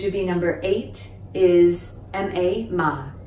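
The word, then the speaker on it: 麥: on the list is mac in english it's pronounced with the mac right in cantonese is pronounced the low tone ma there's that slight k sound at the end can you hear it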